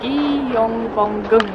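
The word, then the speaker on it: Gyeongbokgung: by King T the name of it is pronounced as gyong bong palette it's so beautiful here till this day every day apart from Tuesdays I believe at 10:00 a.m.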